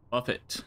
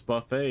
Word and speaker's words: Buffet: yeah I almost said Buffet but somebody had corrected me about that so thank you I don't know why I was pronouncing it as Buffet you know like a restaurant but it is pronounced